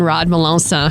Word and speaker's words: Rod Melancon: How's it going, Rod Melancon?